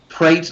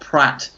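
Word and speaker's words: Praet: to this season but he says prate not Pratt I I can't pronounce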